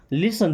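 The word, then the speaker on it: listen: लिसन टू मी, लिसन देखिए पिटी silent है ना, लिसन मीन्स सुनो, टू मी मुझे या मेरी बात, है ना।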